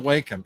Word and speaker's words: Wacom: the Wacom?